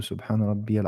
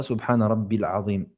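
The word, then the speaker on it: سبحان ربي: Lors de l'inclinaison, on prononce Subhana Rabbil Azim ou Subhana Rabbiyal Azim. Non, on dit Subhana Rabbiya, pas Subhana Rabbil Azim.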